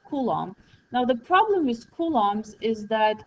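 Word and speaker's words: coulombs: name and this is how you actually say kums because you know you spell it completely differently this is how you pronounce it kums okay kums okay so if the current is the flow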